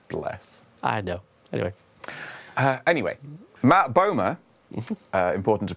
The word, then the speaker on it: Matt Bomer: Anyway, Matt Bomer, important to pronounce that one properly, he is voicing the